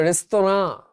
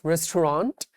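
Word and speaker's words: restaurant: বাংলা রেস্তোনা। এটা হচ্ছে একচুয়াল উচ্চারণ নট রেস্টুরেন্ট।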